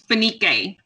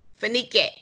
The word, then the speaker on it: Fenike: Fenike, am I pronouncing that correctly? Yeah, it's Fenike. Fenike.